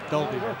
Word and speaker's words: Dalby: Just looking at the fat man for clarification of the pronunciation. Dalby.